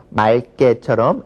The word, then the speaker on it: 맑게: 기역이 겹치니까 그때는 맑게처럼 리을로 발음된다 라고 이제 기억을 해두시면 될 것 같습니다.